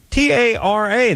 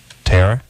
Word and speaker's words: Tara: give her one chance Tera no Tara Tara works I get it all